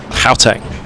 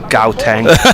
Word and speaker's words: Gauteng: Gauteng in South Africa. Yeah. I think you're not supposed to pronounce the G's. Right. Gauteng.